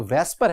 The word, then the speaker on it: VSEPR: shapes को geometry को वेस्पर की भी ये जो वेस्पर है वैसे देखेंगे तो स्टूडेंट लिखा हुआ है वसेपर लेकिन आप इसे प्रोनाउंस क्या करेंगे आप इसे प्रोनाउंस करेंगे वेस्पर तो वैसे-वैसे पर है